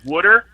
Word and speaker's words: water: famous for pronouncing it pronouncing the word water as would err like yeah you want cup